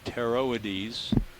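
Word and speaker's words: Pteroides: we saw may be teroidies beginning with silent p p t e r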